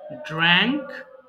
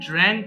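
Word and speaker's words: drank: এরপর ড্রিঙ্ক, পান করা, ড্রিঙ্ক, ড্র্যাঙ্ক, ড্রাঙ্ক। দেখো মাঝখানের এটা হচ্ছে ড্র্যাঙ্ক আছে, আমরা উচ্চারণগুলো সঠিক করতে পারি না, এই জন্য আমাদের সেন্টেন্স ভুল হয়।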